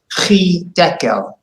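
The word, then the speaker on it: חדקל: And actually this is a chet, but your pronunciation was good and your accent was very good. Chidekel. Chidekel. Hidekel.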